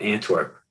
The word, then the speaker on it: Antwerp: it wrong when i said it before no antwerp beautiful place by the way they're using um